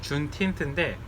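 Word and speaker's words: Juneteenth: 준 19th를 합쳐서 준틴트인데, 이 날이 어떤 날이냐면 원래 미국 땅에 있던 마지막 흑인 노예가 노예에서 시민으로 승격된, 해방된 날이에요.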